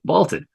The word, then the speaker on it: Vlted: for your problems I'm vaulted v-l-t-e-d pronounced vaulted it's a new sports